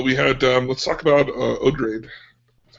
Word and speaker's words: Odrade: Let's talk about Odrade.